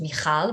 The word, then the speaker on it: Michal: appropriate like in the right way which is michal which is not easy which i really appreciate